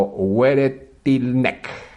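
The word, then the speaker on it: Weretilneck: el rionegrino que lidera el actual senador alberto wereltineck así se se pronuncia mientras que nuestra provincia gerardo zamora consiguió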